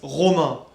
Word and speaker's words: Romain: It's like R-O-M-A-I-N. In France, it's Romain. But for the Australian people and all the British people, it's Romain. Because the first letter, like R, it's like so hard to say.